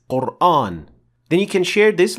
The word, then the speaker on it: Qur'an: All the 10 confirmed qira'at pronounce this word with an empty mouth alif.